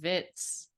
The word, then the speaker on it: Berkowitz: saying Vitz. Oh yeah, that's probably more like a old style pronunciation, like a Polish pronunciation or whatever.